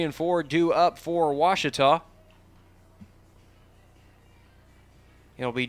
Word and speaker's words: Ouachita: at a baptist university back in texas everybody pronounces it wichita but really it's ouachita washington how would you pronounce it it's washita baptist university get it right it's watertall people it's